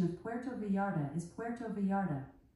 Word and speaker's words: Puerto Vallarta: vetta the correct pronunciation of Puerto varda is Puerto varda pronounced as Puerto V with the roots Puerto V